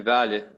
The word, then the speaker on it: vallée: Une vallée. Une vallée. Il y a un accent sur le premier E, donc on va prononcer une vallée.